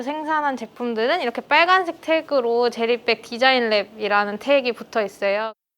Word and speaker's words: 제리백: 젤리백 안 돼. 제리백 마우시야. 젤리백. 제리백입니다. 제리백. 강하게 안 하셔도 돼요. 된 발음 말고 제리백. 처음에 시작할 때는 진짜 저는 정말 지금 생각해보면 아무것도 모르니까 시작했던 것 같아요.